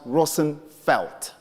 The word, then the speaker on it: Roosevelt: as I said and Roosevelt is a bastardized Dutch name with the real senses pronounced Rosen felt at any Dutch people